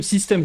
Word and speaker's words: SYSTM: Et alors du coup dans le système, donc le fameux système justement de Wahoo, c'est une appli. Donc ça s'écrit SYSTM.